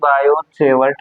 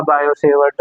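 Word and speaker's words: Biot–Savart: तो by using बायो सेवर्ट लॉ T silent रहेगा।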